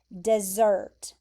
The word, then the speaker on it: desert: So this word is spelled like this word, like desert, but you pronounce it like this word, dessert.